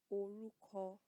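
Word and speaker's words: orúkọ: an intonation sound, which sounds very similar to the English word of okra. Okra. You know that is it. It's a vegetable. Okra. So that O is an O sound. Oruko.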